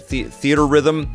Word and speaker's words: Theatrhythm: Theatrhythm, how do you say it? Theater Rhythm, the Square Enix music